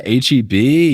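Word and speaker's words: H-E-B: Um, my teams got the opportunity to play at the Is it HB Center or how do you pronounce? I know it's a grocery store. Yeah, HB.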